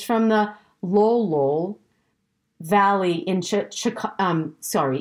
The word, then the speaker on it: Lolol: in colchagua valley and but lolo when you spell it out is l-o-l-o so like it's just laughing out loud a couple times right lolol in the kolchagawa valley